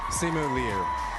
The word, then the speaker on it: Simu Liu: Simu Liu.